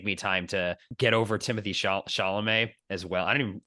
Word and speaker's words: Timothée Chalamet: It just maybe it'll just take me time to get over Timothy Chalamet as well. I don't even am I pronouncing his name correctly?